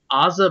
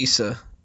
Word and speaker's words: Asa: I think it's Issa. Issa? Yeah, usually I think that's pronounced Asa.